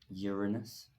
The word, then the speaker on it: Uranus: On to Uranus, which is how we're going to pronounce that, Uranus.